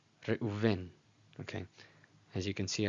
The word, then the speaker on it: Reuven: This is a V and this is a U, just so you know. Reuven. Reuven.